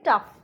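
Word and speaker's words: tough: टफ, इसको हम टाउफ नहीं बोलेंगे, इसको हम बोलेंगे टफ.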